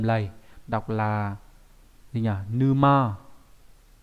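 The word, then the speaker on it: 沼: Vào bên tay trái của cái chữ chữ triệu ấy thì được chữ triệu, nghĩa là đầm lầy, đọc là gì nhỉ? Numa. Numa nhá, có nghĩa là cái đầm lầy này.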